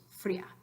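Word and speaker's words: fría: two syllables agua and Fria is two syllables free--ah okay practicals quiero que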